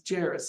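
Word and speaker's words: Jairus: rulers of the synagogue jerus by name j a i r u s jerus is how I pronounce it and when he saw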